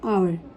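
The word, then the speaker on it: hour: हैं for example and आवर जिसम H silent है एंड ऑनेस्ट इसमें एच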